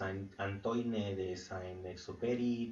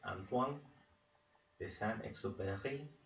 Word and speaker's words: Antoine de Saint-Exupéry: Eh, si tú dices Antoine de Saint-Exupéry, también está bien, ¿eh? Estamos en México, pero bueno, es un autor francés, si no me equivoco. Eh, y pues bueno, la pronunciación, al menos el nombre al menos francés, en francés, Antoine de Saint-Exupéry, y pues